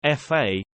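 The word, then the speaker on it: 髮: Chinese and Cantonese is pronounced fa which is the same as the word fa in prosperity so whoever washes their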